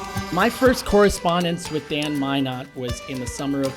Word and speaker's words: Minot: later Dan Minot responds my last name Minot is pronounced Minot rhymes with why not why not my not